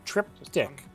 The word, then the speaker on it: Triptych: You can't just mispronounce it. Triptych. Yeah, there's a Y.